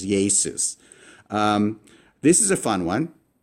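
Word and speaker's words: Ἰησοῦς: Jesus. You have that E, A, then sus, and you have to pronounce it really fast as Jesus.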